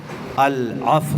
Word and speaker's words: العفو: العفو صحیح تلفظ سنیے، عفو نہیں ہے، العفو العفو العفو العفو.